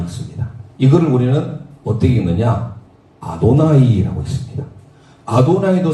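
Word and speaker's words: Adonai: 아도나이라고 읽습니다.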